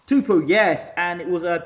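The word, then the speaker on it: Tupou: Can you pronounce Tupu? Tupu.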